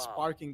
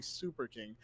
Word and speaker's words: Super King: I've been reading that as Sparking the whole time. It's actually Super King.